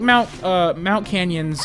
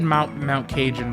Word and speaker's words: Mount Cajun: Although, like, Mount Canyon's, I may have said Mount Cajun before. Mount Canyon is how you pronounce their name, even though it's spelt with a J.